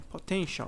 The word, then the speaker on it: potential: Então, esse potential não é potencial, é potential. Ele tem um som de sh.